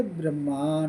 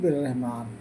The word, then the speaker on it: बिर्रहमान: Sky, rain, सब ये winter, summer, red सब कुछ रब्बिल आलमीन की या रहमान रहीम की, जिनको पहले ब्रह्मान बोलते थे, सही उच्चारण है बिर्रहमान, अब उनको अर्रहमान बोलते हैं।